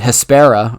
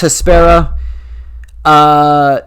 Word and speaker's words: Hespera: She played Hespera.